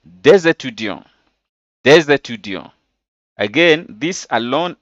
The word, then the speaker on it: des étudiants: starting with a vowel, we pronounce this S like it's a Z just for the beauty of it. Des étudiants.